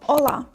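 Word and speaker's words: hola: До прикладу, візьмемо слово ола. Привіт. В принципі, читаємо так, як бачимо, тільки літера ача завжди нема.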